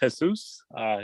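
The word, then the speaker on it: Jesús: And it's pronounced Jesus. Jesus.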